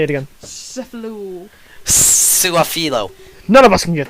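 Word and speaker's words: Su'a-Filo: Suafilo.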